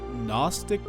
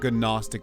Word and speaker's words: gnostic: magdalen a quick disclaimer i say this word gnostic a lot but i pronounce the g in it so just know it's pronounced gnostic not gnostic like i say mary